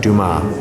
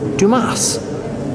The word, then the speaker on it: Dumas: the back now Alexander Duma or as we call him in the United States Alexander Dumas I think the S is silent Alexander W look at